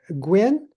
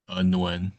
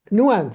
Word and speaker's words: Nguyen: Gwynn? Here. How do I pronounce your last name? Nguyen. Nguyen. So the G is not pronounced. Okay. Okay. Yes. Yeah, I was dropping the N.